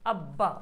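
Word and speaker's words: ابّا: अब्बा पे तो क्या अली अब्बा देखो जिस पर रहेगा उसको डबल पड़ता है अब्बा अम्मा अब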